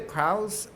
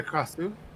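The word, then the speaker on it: Krasue: Yeah, because I think the Kraus, or am I saying it right? Uh, The Krasu. Thank you.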